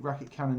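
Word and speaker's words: Raketkanon: without actually reading it racket cone racket racket cannon racket coming that's how you say I've never known do that this is number two rocket cannon number two I've never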